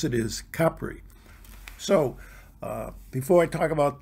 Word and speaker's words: Capri: in Italy and stayed in Positano, we had pronounced it like most American, Capri, the Isle of Capri, but we were told that the way to pronounce it is Capri.